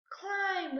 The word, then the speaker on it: climb: Climb. We hear the M. We don't hear the B.